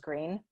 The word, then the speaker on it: Greene: Greene, that's Greene with a silent E at the end, discovered they were expecting a baby girl.